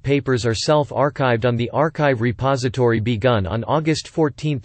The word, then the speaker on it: arXiv: The arXiv, pronounced arXiv, is a repository of